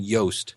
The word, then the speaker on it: Yoast: It's by a guy named Yoast. Yeah. And rhymes with toast.